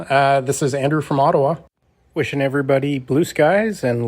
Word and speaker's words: Ottawa: how do you spell ottawa it's o-d-o-w-a if you want to spell it phonetically yeah that is ottawa